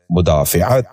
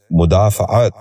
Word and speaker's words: مدافعت: محل۔ نواں لفظ ہے مدافعت۔ یہ غلط تلفظ ہے، اس لفظ کا درست تلفظ ہے مدافعت۔ دوبارہ سنیے، مدافعت۔ بچوں